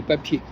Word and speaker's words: papier: l' remarqué en français papier par exemple on prononce pas le R. En allemand, on dit papir, mais en français, on dit papier.